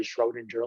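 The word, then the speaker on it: Schrödinger: By 1926, when Erwin Schrodinger, which is like some approximation of the correct German pronunciation, but now I'll just say Schrodinger like everybody else in the US.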